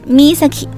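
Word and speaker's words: 見崎: 而剑崎的发音正是 Misaki。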